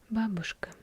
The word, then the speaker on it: babushka: babushka babushka foreign be the americans say this word as babushka meaning that it is a certain piece of fabric some ladies put on their head and tied up over